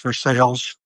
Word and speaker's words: Versailles: You know, there's a neighborhood not far from there called North Versailles, spelled like Versailles, but it's pronounced Versailles, which I think is amazing and lovely in that Western Pennsylvania manner.